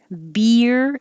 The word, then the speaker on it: beer: jiffy jiffy beer coaster beer is a little strange because it really is one syllable beer but your tongue is doing movement inside it's going very high for the e and then sliding down to make the r so it's almost two syllables if you slow down beer but slide it together beer beer coaster roller coaster that's